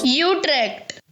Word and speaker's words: Utrecht: Give me a Dutch guy saying Utrecht for God's sake. How do you say it? I know it's not that. Utrecht. That's it. That's the one.